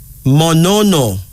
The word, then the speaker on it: Monono: Our first female name is Monono.